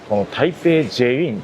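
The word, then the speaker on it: 台北捷運: it is pronounced Taipei Jieyuyin, and below it it says "Taipei Metro" in English.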